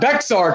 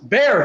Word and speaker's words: Bexar: but it is not bexar county it is bear county the x is silent so an illiterate person